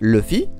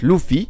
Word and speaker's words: Luffy: dans sa version originale nous le prononcions Luffy comme si le U se disait e alors qu'en réalité cela aurait dû être Luffy avec un ou en parlant de One